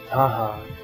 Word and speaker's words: Taha: The Marquesans today pronounce it Taha, the pure Motherland pronunciation.